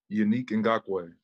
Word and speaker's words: Yannick Ngakoue: We get the pronunciation guides and it still gets butchered. From you, will you please say your first and last name? Yannick Ngakoue.